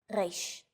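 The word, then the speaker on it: ריש: 3 of these letters are pronounced deep in the throat.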